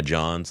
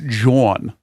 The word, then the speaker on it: jawn: to go do my Johns, like I'd go do my chores. John is like a Philly slang. That's what you do when you just don't know enough words. It's pronounced Jawn. It's Jawn.